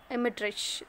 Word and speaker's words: Dmitrich: Ivan Dmitrich, that D is silent here. Okay, Ivan Dmitrich and his wife, and Makar Semyonich.